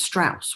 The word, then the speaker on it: Strauss: are expecting um and his name is strauss which rhymes with house so i think that's